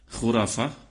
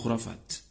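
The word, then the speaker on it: خرافة: mereka tahu tak kamu Apa makna khurafat khurafah khurafat ejaannya Kha ra Alif fa ta orang Melayu Panggil khurafat khurafat Sebenarnya nama seorang lelaki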